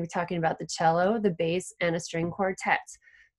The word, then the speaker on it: cello: this just a second, cello is spelled C-E-L-L-O. There's no H in it, but because it's an Italian word, you don't say cello, you say cello.